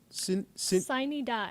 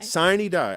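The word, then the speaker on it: sine die: minute and right up until how do you pronounce it? Siny die. Siny die. I learned something new today. Thank you, Maria. Siny die. Up until the last minute, siny die.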